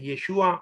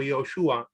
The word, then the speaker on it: Yeshua: nombre, a ver, la mejor pronunciación es Yeshua o Yoshua, en la forma larga, y la forma Yeshua corta en aramea, y Yoshua en hebrea larga.